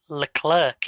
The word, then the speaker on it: Leclerc: You're supposed to pronounce the C on the end, but as British language normally goes, you wouldn't.